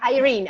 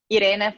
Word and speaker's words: Irene: read it in it sorry or Irene American pronunciation thank you yeah actually I haven't told my name said Irina for a while I'm officially Irina so you can you can call me Irene I even like it better okay okay